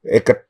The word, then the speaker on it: Eket: So by the time, not even in Uyo, in Eket, Eket, that's how it's been pronounced, in Eket.